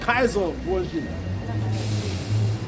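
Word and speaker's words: Cesare Borgia: And I was, yeah, Caesar Borgia. Well, I think some people even just pronounce it Kaiser Borgia.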